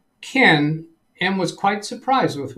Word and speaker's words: Ken: Yes, on the Ken Stout live show yesterday, he corrected me on something else. The pronunciation of his name. He claims that it's pronounced Ken, like that.